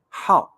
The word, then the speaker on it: 好: like how okay it it's originally it's like the third tone how and now you see it becomes how it becomes the fourth tone how okay also with the